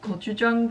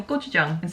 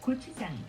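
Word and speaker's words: 고추장: sometimes i don't pronounce gochujang correctly and i'll say gochujang and ggochu is not an appropriate word so gg/kk is very similar to an english g so that's why naturally i'll say ggochujang so really try to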